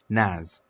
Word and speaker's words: NAS: A relatively affordable solution for file storage hardware is to use a network attached storage, or NAS, pronounced NAS, instead of setting up a dedicated server like you would other services.